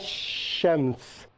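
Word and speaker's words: شمس: are some difficulties here some letters are written and are not pronounced such as elysium see you as shams you right Alif Lam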